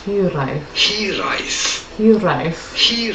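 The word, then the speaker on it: hiraeth: in works we are looking at how to pronounce he rice he arrive he lies your life he rise it'd be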